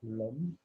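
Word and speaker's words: लं: on va répéter silencieusement le mantra l'homme, qu'on écrit L-U-M, l'homme, et qui est la syllabe sanskrit associée à ce chakra.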